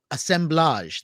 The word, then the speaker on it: assemblage: brand new book called assemblage that is the correct way to pronounce it it is a French word and I'm so thrilled